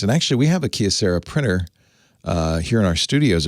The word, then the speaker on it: Kyocera: about how to pronounce Kyocera. Kyocera. The KYO at the beginning of Kyocera is apparently pronounced the same as the KYO at the end of Tokyo, but I know we're doing it wrong.